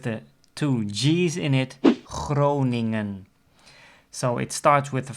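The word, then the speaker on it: Groningen: the letter G and the second G is a combination of the NG and the combination of NG in Dutch is always pronounced as hmm right so that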